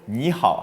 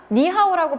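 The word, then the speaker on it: 你好: 라는 말은 중국어로 니하오 하죠. 니하오는 한자이고요. 한자 외에서 이 발음 표시하는 거 따로 있습니다.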